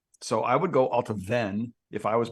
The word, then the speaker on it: Allt-a-Bhainne: Distillery 108, which is Allt-a-Bhainne. That's how I say it. Some people say Allt-a-Bhainne. It's ALLT-A-BHAINNE, and the BH, like in Bunnahabhain, is a V sound. So I would go Allt-a-Bhainne if I was pronouncing it.